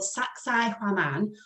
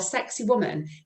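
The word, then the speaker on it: Sacsayhuamán: It's called Sacsay Huaman, or Sexy Woman, if you struggle to pronounce it.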